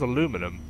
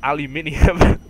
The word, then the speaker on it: aluminium: different word it's like what the hell's aluminum aluminum brass it's no it's aluminium uh but I guess it kind of makes sense with the way it's spelled I don't know I